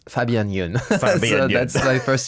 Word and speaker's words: Fabien: So and then after the second one, so my name in Korea is Pabiang. In French it's Fabien with an F, but in Korea it's P.